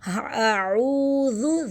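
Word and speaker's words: أعوذ: سے پہلے پیش ہے۔ اعوذ، ذال کو ہم نرمی سے پڑھیں گے، زو نہیں پڑھنا، زو نہیں کرنا، پیش کو ضمہ جو ہے اس کو مجہول نہیں کرنا، اس کو جھلانا نہیں ہے۔ اعوذ۔ نیکسٹ بی رب،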